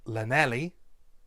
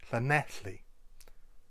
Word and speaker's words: Llanelli: So instead of Llanelli, try Llanelli. If you want to try and get the correct L sound, it's fairly straightforward to do. All you need to do is put your tongue to the roof of your mouth and then exhale.